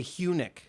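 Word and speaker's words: Huenink: to guess it Richard I'd say hunic it that is correct really yeah it's it's dutch you must be Dutch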